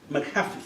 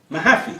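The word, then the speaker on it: Mahaffy: process of credit ecology John pentland McAfee am at McAfee mahaffey thank you John Canty would remember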